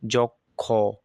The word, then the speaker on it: যক্ষ: আচ্ছা, এখানে কিন্তু আমাদেরকে বলছে যে শব্দের প্রথমে অ, এরপর আপনার কি থাকবে, এই খ, ও, তারপর রি থাকলে তাহলে অ এর উচ্চারণটা সাধারণত কি হবে, আপনার ও কারের মতো হবে। তাহলে এখানে আপনি কি বলবেন, যক্ষ, এই যে যক্ষ, এই যে যক্ষ বলবেন আপনি।